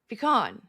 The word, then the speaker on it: pecan: Pecan. You say pecan. Pecan. You say pecan. Pecan pie. Yeah, it's pecan. It's pick, not peak.